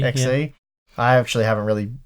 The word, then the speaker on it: Xe: purchase, as next year we've got the Intel Xe? I don't know, how do you pronounce that? I think it's Xe. Xe.